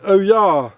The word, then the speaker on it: olla: And there we go, and that's our olla sorted. So it's spelt O-double-L-A, but it sounds like oh-yah, so oh-yah, oh-yah.